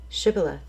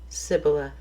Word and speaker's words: shibboleth: would say to him then say shibboleth and he would say sibila for he could not pronounce it right then they would take